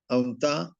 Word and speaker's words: autant: Toujours la combinaison de voyelles A et U para nosotros va a ser O. Siempre en un 90%, 99% de veces la combinación es de letras A y U va a ser O.